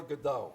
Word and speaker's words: Godot: Waiting for Godot. Okay, you don't pronounce the T.